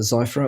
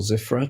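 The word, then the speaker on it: Zyphra: on this stuff is called uh zra or zifa depending on how you pronounce it z y p h r a um there a demo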